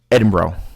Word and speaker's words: Edinburgh: It's not nearly as crowded as Edinburgh Castle is.